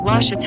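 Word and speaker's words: Ouachita: Texas everybody pronounces it Witchita but really it's wash wash wash how would you pronounce it wash was it's wash Baptist University get it right it's was people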